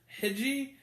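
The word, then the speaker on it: Hegde: is played by um puja hedge hedgie i believe that's how you pronounce her name who by the way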